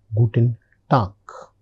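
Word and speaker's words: Guten Tag: the next that is Guten Tuck. Guten Tuck. The ending letter is G and I am pronouncing it as K.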